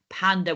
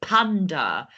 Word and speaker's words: Panda: to English but sometimes the pronunciation is a little bit different like we don't say panda we say panda we don't say elephant we say elephant we don't say giraffe we say giraff so just always remember